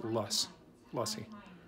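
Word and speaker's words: lassi: have this thing called lussi, which is like they have, I think it's called a mango lussi, spelled L-A-S-S-I, I believe, but pronounced lussi.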